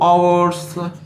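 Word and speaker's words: hours: अब उच्चारण क्या है, वोवेल से या कॉन्सोनेंट से, तो आवर्स, आवर्स ऐसे होता है, अ से, तो अ किस में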